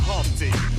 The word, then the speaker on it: Humpty: Myself, my name is Humpty. pronounced with the umpty.